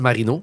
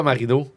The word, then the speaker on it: Marino: Euh euh Rebecca Marido, je voisuse de tennis canadienne. Ouais, exactement. C'est ça que je viens de googler pour être sûr que j'avais le droit. Rebecca Marino. Mais ça s'écrit comme Dan Marino, pas euh bon ça je suis bien fier.